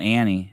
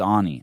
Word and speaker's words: Ani: It's not Annie. It's Ani.